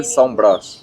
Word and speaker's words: São Brás: The pronunciation of this fort, Salbras. Yes, Forte de São Brás. Salbras.